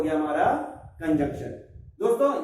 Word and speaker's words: conjunction: बोलने में कंजक्शन में एन नहीं आ पाता कभी कभी, क्लियर बोलोगे तब कंजंक्शन ऐसा बोलने में आएगा।